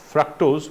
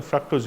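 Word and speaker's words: fructose: যেমন ফ্রাক্টোজ, উচ্চারণটা ফ্রাক্টোজ হয়, ফ্রুক্টোজ নয়।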